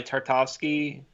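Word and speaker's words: Tartakovsky: I also loved the 2003 micro series by Tarte au ski that's how you say his name I mean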